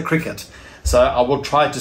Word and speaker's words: Cricut: names in previous videos it's not a cree cut it's a cricket so i will try